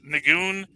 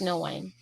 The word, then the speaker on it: Nguyen: I get the feeling like this kid Nagoon is the guy running the whole show.